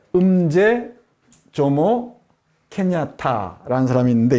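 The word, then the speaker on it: Mzee: 그리고 이 사람이 중요한데, 음제, 음이나 응은 앞에 n이 오면 응부터 발음을 하고요. m이 오면은 이라고 발음합니다. 예? 음제 조모 케냐타라는 사람이 있는데, 이 사람이 케냐 건국의 아버지라고 합니다.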